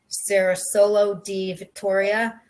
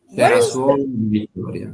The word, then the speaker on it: Cerasuolo di Vittoria: So Frappato is blended with Nero d'Avola to produce Sicily's only DOCG wine, Sarah, and I probably can't pronounce this right, Cerasolo di Vittoria. Cerasuolo di Vittoria.